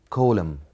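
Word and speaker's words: coulomb: of a charge is colum is colum B is silent Colum colum and the measuring unit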